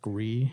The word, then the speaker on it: Gris: shut up it's pronounced gree it's pronounced Gris no it's a French word I play a French